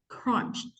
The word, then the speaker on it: crunch: the correct pronunciation because it only has one syllable so your mouth should open only one time crunched yeah quality